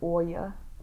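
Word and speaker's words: olla: This is an Oya. Oya. This is Oya, although it's spelled O-L-L-A.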